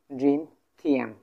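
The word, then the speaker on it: 今天: Today, এই today, today যদি আমরা জানতে যাই, টুডে, এই টুডে, এটার উচ্চারণ আমি বলে দিছি, জিন জিন থিয়ান, জিন থিয়ান মানে হচ্ছে আজ, টুডে, এটা হচ্ছে টুডে।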